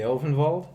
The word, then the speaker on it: Ulvenwald: The Elvenwald? Ulvenwald? I mean, most of the set takes its cues from Germanic So it's Ulvenwald.